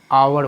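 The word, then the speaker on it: hour: है ना कि स्पेलिंग तो अगर आप इन शब्दों का उच्चारण करेंगे तो हम आवर बोलेंगे ओके आवर करेंगे यह कहते हैं और ऑनेस्ट ऐसे उच्चारण करें ओके उसी इसी कारण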